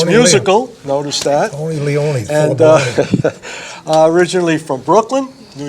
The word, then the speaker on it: Leone: name's Tony Leone. It rhymes. It's Tony musical. Notice that. Tony Leone.